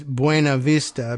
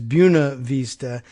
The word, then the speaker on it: Buena Vista: possible exception of a Virginian would read as Buena Vista because that's how it's pronounced in Spanish or or nearly how it